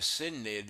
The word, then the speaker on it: synod: This word, I used to call it synod, which is like what it looks like, but the proper pronunciation is Synod.